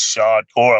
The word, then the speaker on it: Shadcore: hearing it here first it's shot or i'm glad you pronounced it right my brother uh so